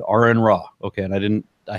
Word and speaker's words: Aron Ra: to that so as my name is Aaron pronounced such I said are in raw okay and I didn't